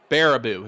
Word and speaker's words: Baraboo: Baraboo is how you pronounce it. Baraboo.